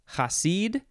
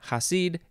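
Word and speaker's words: Chasid: threads next we have i think it would be pronounced hasid or something close to that um it is spelled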